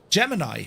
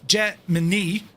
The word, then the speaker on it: Gemini: Now pronunciation the constellation for which the project is named is of course Gemini. However, inside NASA public affairs office issued a statement in 1965 declaring Jemini the official pronunciation.